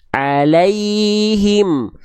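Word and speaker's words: عليهم: sukunnya diarahkan ke langit-langit tengah lidahnya diarahkan ke langit-langit bukan alaihim tapi alaihim Emang ngaruh Bang Kita buktikan makanya ada Aturan itu untuk mempermudah bukan mempersulit kalau teman-teman ini anggap ribet karena teman-teman pengin instan ya Kita buktikan nih ya perhatikan nih ya kalau tengah lidah kita diangkat alaihim alaihim kalau diangkat alaihim alai Lai bukan lae lae Ah kurang naik Berarti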